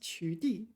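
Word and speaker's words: 取缔: Yeah, it is pronounced 取缔.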